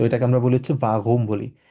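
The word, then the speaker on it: warum: একদম একদম র এর মত রক্ এর মত উচ্চারণ হয় তো এটাকে আমরা বলি হচ্ছে বাগুম বলি তো ঠিক আছে তো এক্ষেত্রে আমরা বলব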